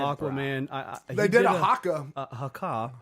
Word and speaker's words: haka: at the premiere He of said Aquaman, They did a haka. haka. Haka. Sorry. That's how they pronounce it in Polynesia.